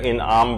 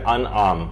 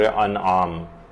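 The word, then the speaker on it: أنعام: کر دی جائے، وہ یہ ہے کہ لوگ اسے سورہ انعام پڑھتے ہیں، جبکہ یہ ہے سورہ انعام، یہ زیر کے ساتھ نہیں ہے بلکہ یہ زبر کے ساتھ ہے، تو اس کا صحیح تلفظ ہوگا سورہ انعام۔ اس کی جو کل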